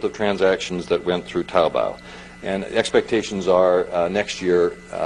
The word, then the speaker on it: Taobao: well Alibaba is one of five there's also taobao they get it right that they're pronounced it correctly okay I've been practicing the last five minutes taobao which is basic have the combination of imagine